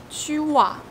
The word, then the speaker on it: tu as: You pronounce two words, tu a, like one.